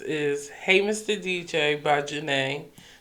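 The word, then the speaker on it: Zhané: DJ by Janae, but the group name is spelled ZHANE.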